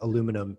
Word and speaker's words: aluminum: my poor American accent, aluminum business, right? Oh. I know, aluminium. I got to work on the way to say it right. Yeah, I don't know how do you say it? Aluminum is how we, yeah.